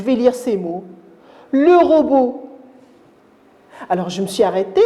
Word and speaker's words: robot: la lutte là l'autre l'aide qu'ils ne se prononcent pas c'est la famille t à le regarder je vais lire ces mots le robot alors je me suis arrêté à la dernière